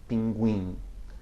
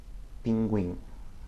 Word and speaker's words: pinguim: And if you see the Q, U with an umlaut or a diaresis on the U, it sounds like a KW as well before E or I. But these words are not common, okay? Frequente and pinguim. Frequente, pinguim, okay?